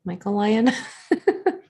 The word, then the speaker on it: Michael Lyon: Is it Michaelion? How do you say your name? Michael Lyon? Michael Lyon.